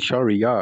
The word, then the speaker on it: Shariyar: That's how you pronounce it, Shariyar.